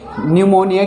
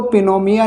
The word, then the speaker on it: pneumonia: तो एन तथा एस से पहले पी आए तो पी साइलेंट रहता है। जैसे न्यूमोनिया की स्पेलिंग PNEUMONIA, न्यूमोनिया, निमोनिया नहीं निमोनिया। तो इसमें हम इसको पिनोमिया नहीं पढ़ेंगे, इसको हम निमोनिया पढ़ते हैं।